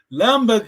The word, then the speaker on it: lamba: Par exemple, lamba. Donc, toujours la voyelle longue en Kikongo.